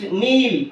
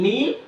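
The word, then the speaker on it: kneel: L is silent next Neil k n e e l Neil the letter K is silent okay these are common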